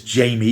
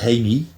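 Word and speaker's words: Jaime: The story is about a young lad called, we pronounce it as Jamie. He's pronounced as Hamey, or Hamer, Hamey Reyes.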